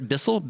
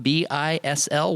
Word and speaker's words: Bisl: But we're at Bisl, B-I-S-L, one word Bisl. It's all in caps, but it's pronounced Bisl.